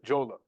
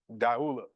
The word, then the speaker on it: Jula: of a group called The Jola or the dula pronounced different ways different places but it's spelled D Yu L sometimes it's spelled j u l a so the Jula uh deula this is a group